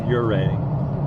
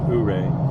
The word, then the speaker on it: Ouray: But yeah, it's it's pronounced Uray, not Uray.